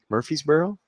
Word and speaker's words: Murfreesboro: I probably butchered that name. Murfreesboro? Apparently that's how you say it.